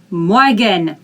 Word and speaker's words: Morgen: Okay, so you don't say r, you don't say r, you say like French. Morgen, morgen, morgen. When you pronounce it fast, you don't even hear that, you don't have time to pronounce it.